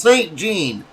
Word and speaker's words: St. Jean: Tim's last name is actually pronounced St. Jean.